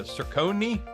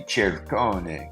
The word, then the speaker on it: Ciccone: Sircone is definitely one of those pronunciations, but actually Sircone is not the correct Italian pronunciation of that because we're not sounding the last vowel, and a C before E always should be the CH sound. So it should be Cercone would be the correct pronunciation.